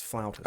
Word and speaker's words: flautist: Actually, in American vernacular, it's flutist. In English vernacular, it's flautist.